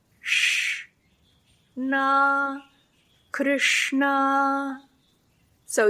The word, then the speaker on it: Krishna: So if we say Krishna, Krishna, like a typical non-trained person might do, versus Krishna, Krishna.